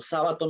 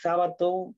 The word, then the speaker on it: Sabato: Bueno, en realidad, muchos se preguntan, ¿por qué, profe, si lo pronuncian como Sabato no lleva tilde? Porque en realidad, su apellido es italiano. Entonces, Sabato, o sea, en el italiano no usan tilde, si no me equivoco.